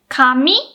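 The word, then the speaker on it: 紙: meanings so for example kami can either mean paper or hair so the pronunciation and the pitch accent are exactly the same but the kanji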